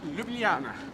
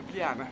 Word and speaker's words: Ljubljana: my hands though you Ljubljana because the uh if you're a English speaker or anyone any language the Jade it's telling them into a wise and that's how you pronounce it so l y Loop